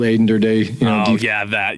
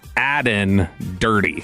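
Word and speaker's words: Aden Durde: A Mike McDonald, Aiden Durde. Durde. Did we say his name wrong when he was here? So he said both parts wrong. It's Aden Dirty. Okay. So it's not Aiden Durde.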